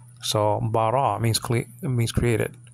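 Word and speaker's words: בָּרָא: And then the aleph is silent there. So bara means created.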